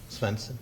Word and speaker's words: Svensen: Am I pronouncing that correctly? Svensen?